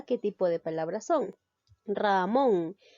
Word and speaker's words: Ramón: tipo de palabras son ramón lleva la mayor fuerza de voz en la sílaba mont inglés en la sílaba